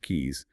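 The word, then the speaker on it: cays: You've got 29 major islands, 661 K's, and by the way, that's spelled C A Y S, but pronounced keys, and over 2,000 isolated rocks and exposed reefs.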